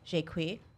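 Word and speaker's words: Jaques: so Shanna Tufts also in it she plays shake wheat that's how you pronounce it look it up and I'm a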